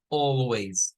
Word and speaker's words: always: esta tiene dos Miren la primera es la que yo les he hecho es o Always con la o glotal o la o gutural esta que es parece una c es esa o que cortamos aquí en la garganta o oh oh oh oh siempre aparece a la par de una l siempre lo vamos a ver a la par de una L y decimos W algunos Pueden decir Always